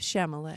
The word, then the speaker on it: Chalamet: go with Timothy Chalamet. Chalamet. Okay, You're then- saying his name wrong.